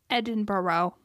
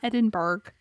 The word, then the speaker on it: Edinburgh: the early 19th century in Edinburgh not edinberg this is why I'm